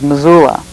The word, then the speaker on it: Missoula: or Masula, or how we pronounce it is Missoula.